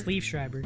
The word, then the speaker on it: Liev Schreiber: Also cast in the film was, I always pronounce his name right, is it Liev Schreiber? It's Liev Schreiber.